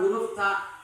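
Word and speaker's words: ت: Nah, syiddah ketika diucapkan harus dengan tekanan yang kuat. Kalau tekanannya lemah berarti tidak menjadi ta. Dia juga punya sifat namanya hamz di sini. Ketika memilih antara jahar atau hamz, dia punya sifat hamz. Apa hamz? Hamz adalah jarayanun nafasi 'inda nutqi bil harfi, yaitu ketika diucapkan harus disertai nafas. Disertai nafas. Maka ketika ucapkan huruf ta, maka harus disertakan nafasnya.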